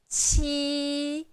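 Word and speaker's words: 七: So, we pronounce qī. Qī. And remember this sound, qī. There is the the kind of air goes through your teeth, and it's first tone, flat.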